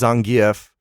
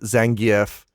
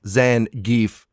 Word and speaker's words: Zangief: I I want to throw out I I'm pretty sure because I think they say it correctly in the movie in Japanese in Katakana his name is Zangf, right? The announcer says Zangf. Pretty sure every American child is butchering it by saying two syllables. Zan geef, but that's just what we say now.